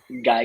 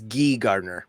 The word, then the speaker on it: Guy Gardner: housemade Nathan filon is Guy Garder AKA Green Lantern it's gee Gardner by the way it's not guy it's Nathan filon as gee Gardner it's not Guy Gardner no spelled like guy yeah um oh my